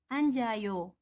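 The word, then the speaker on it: 앉아요: maka yoghurt Kim ini karena hurufnya berbeda satunya tinggal di bawah satunya naik atas menggantikan yang maka dibaca yang menjadi anjayo yang punya duduk namun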